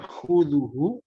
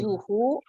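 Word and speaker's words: تأخذه: koreksinya adalah tadi ada beberapa huruf yang kurang sempurna pengucapannya, ya, di antaranya tadi khoknya kurang sedikit dahaknya keluar, khuduhu, ya, kemudian Khuzuhu. nah, khuduhu. Khuzuhu.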